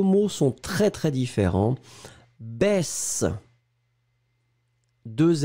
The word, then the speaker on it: baisse: Yossi, c'est la même différence que poisson, poison. D'accord ? Voyelle, voyelle, SS, un S très très fort. Se, baisse, poisson. Voyelle, voyelle, un S, ze, baise, poison.